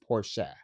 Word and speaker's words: Porsche: You know, people pronounce it Porsche, but it's actually pronounced Porsche.